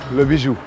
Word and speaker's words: Le Bijou: Le Bijou.